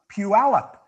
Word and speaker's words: Puyallup: Puyallup.